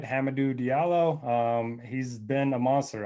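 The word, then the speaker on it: Hamidou Diallo: here at shooting guard tonight yeah another uh pronunciation we need to get right hamadoo diallo um he's been a monster off the bench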